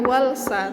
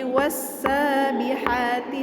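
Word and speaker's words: والسابحات: Jadi cara bacanya wassa, bukan walsa, tapi wassabihati sabha.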